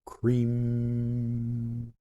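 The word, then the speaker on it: Krīm: an E so it's cream cream that's what that is green almost like it is spelled with two e's k-r-e-e-m when you say that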